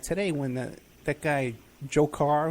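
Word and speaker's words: Dzhokhar: when the that guy jokar who just happens to to rhyme with Joker Batman you know so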